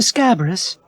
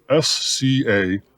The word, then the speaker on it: Scabrous: enemy called fire mister scabbarus it's pronounced just like it's spelled s-c-a-b-r-o-u-s scabrous forgive me sir